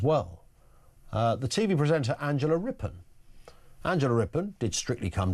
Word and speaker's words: Rippon: It's not Rip-On, it's Rippon.